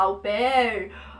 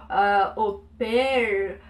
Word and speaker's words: au pair: Pé, e aquele R aqui na garganta. Claro que você não precisa sempre falar assim, principalmente se você não estiver falando francês. Você pode falar au pair, au pair, o jeito que você quiser, tua pronúncia, tuas regras.